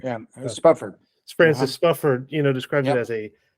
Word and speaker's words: Spufford: Yeah, Uh, Spufford.